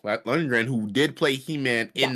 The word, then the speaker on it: Lundgren: Also, a fun fact is there's a cameo in this film by Dolph Lundgren. Is that how you say his name? Lundgren, who did play He-Man in that Yes.